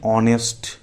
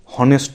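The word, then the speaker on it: honest: আবার হনেস্ট নয় কিন্তু অনেস্ট, তাহলে কিন্তু এইচটা উচ্চারণটা সাইলেন্ট আছে, সেই জন্য এইচ থাকলেও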